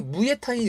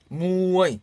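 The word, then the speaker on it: มวยไทย: 무어이죠. 받침도 우리 이니까 나라마음이니까 생음이에요. 저자음 생음 태생대로. 자, 우리 무에타이 여러분 많이 아시죠? 무에타이. 그 무에타이의 무어이타이거 원래 무의 이름이 무어이거든요. 무어이타이예요. 여기 권투하다라는 동사입니다. 권투. 무어이 얼마나 잘 읽습니까?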